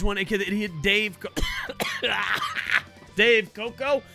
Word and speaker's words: Dave Koco: Dave Koco. It's pronounced that way, even with the cough.